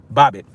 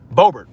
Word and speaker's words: Boebert: Lauren Boebert, or Boebert, my bad. I'm saying the name wrong.